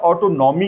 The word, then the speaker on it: autonomy: autonomy होती है जिसे आप ऑटोनॉमी कहते हैं। इससे प्रोनाउंसिएशन, बिकॉज हम लोग ग्लोबल लैंग्वेज, ग्लोबल स्टेज पर हैं, तो ऑटोनॉमी नहीं बोलते, इसको कहते हैं ऑटोनॉमी।